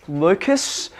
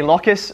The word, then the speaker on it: locus: an insect remember so i always call this locus i equally hear it pronounced lucas but i think that sounds too much like um like the crazy grasshoppers so i i say locus so you don't confuse